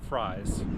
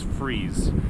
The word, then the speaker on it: Fries: Johnny Atkins River Park not fries it is spelled like fries but is freeze so I stand corrected